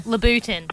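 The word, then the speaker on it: Louboutin: always Latin but yeah what how do you pronounce it sorry labutin yeah oh labutin usually if you know what color Souls they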